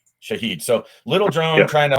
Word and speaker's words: Shahed: It's an air-to-air drone hunter uh that is meant to to hunt down the Shia the Iranian drones. How do you say that one? Shahed. Shahed.